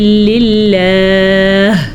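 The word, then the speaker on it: لِلَّهِ: والامر یومئذ للہ، للہ کچھ میں پتہ چلا آپ کو، یہ اس میں خاص بات ہے کہ للہ میں جو آخر میں ہا آ رہی ہے اس کو ضرور ادا کریں گے.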